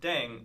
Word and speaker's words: 땡: The pronunciation of 땡 is similar to thang, which is the slang of thing in English.